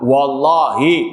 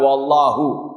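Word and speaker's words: والله: Wallahi, bukan wallahu.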